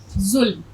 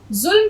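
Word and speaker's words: ظلم: अच्छा जुल्म देखिए जुल्म आप इसका उच्चारण भी ठीक कीजिए और इसको लिखना भी सीख लीजिए जोय से आएगा जोय प्लस लाम प्लस मीन जुल्म जुल्म का तलफ्फुज आपका ठीक होना चाहिए ये देखिए किस तरह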